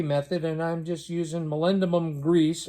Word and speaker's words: molybdenum: and I'm just using molybdenum grease. I think that's how you pronounce it. My buddy Arnie, who's a trained machinist, says that's the correct pronunciation.